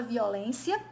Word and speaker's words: violência: temos aqui a palavra violência que é uma palavra paroxítona porque ela tem a penúltima sílaba tônica e ela é terminada